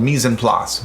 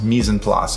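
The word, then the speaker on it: mise en place: actually a culinary term it's called mise and plus misen plus all right and that's spelled m-i-s-e and then e-n and then plots will spell like place right meas and plus so what does it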